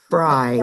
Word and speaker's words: Fried: My last name is spelled like fried. Fried. like fried chicken, right? So I say I'd rather be freed than fried and you would too.